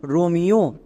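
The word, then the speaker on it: Romeo: ই ও একত্রে ই ও সাউন্ড দেবে। যেমন রোমিও। এখানে দেখো শব্দের একদম শেষে ই ও আছে। তার মানে ভাওল blending word ভাওয়েল blending word যখন পেয়ে যাব তার জন্য আমাদের সাউন্ড মনে রাখতে হবে। এর জন্য ইও সাউন্ড হবে।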